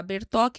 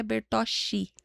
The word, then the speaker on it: Bertochi: O Bertoc é CHI. É que eu tenho mania de falar Bertoc, mas é Bertochi que se escreve.